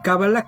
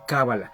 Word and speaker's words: cábala: de queso es decir cábala la pronunciación sigue siendo lo mismo es una palabra homófona pero al escribirlo si